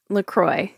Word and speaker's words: LaCroix: okay let's move on lroy lroy lroy lroy well this is confusing as the company says it rhymes with enjoy then I would think